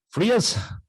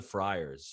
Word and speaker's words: Friars: He's a best-selling author with 3 books, Wheelbarrow Profits, The Honeybee, and Family Food and Frias. Am I saying that right? Family Food and the Friars. The Friars, okay.